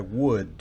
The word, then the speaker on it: would: El auxiliar para este tiempo postpretérito, recordarán que es el auxiliar would, que se escribe W-O-U-L-D, pero la L no se pronuncia.